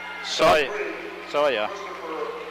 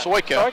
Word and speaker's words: Soika: Coming in for Kansas City Christian will be number 3, Christopher Soya. Yeah. Soika. Soika, yeah. Senior. He does Soika. pronounce the K, doesn't he?